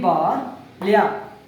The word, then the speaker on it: ಬಾಲ್ಯ: ಬಾ ಲ್ಯಾ ಬಾಲ್ಯ ಬಾಲ್ಯ ಹೌದು ಬಾಲ್ಯ ಅಂತ ಉಚ್ಚಾರ ಮಾಡಬೇಕು ಮುಂದಿನ ಪದ ಮೊದಲನೇ ಅಕ್ಷರ